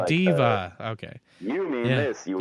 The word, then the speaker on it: D.Va: Because I was playing Overwatch the other day, and I'm like, yeah, I'm going to be DVA, and they're like, who? And they're like, oh, Diva.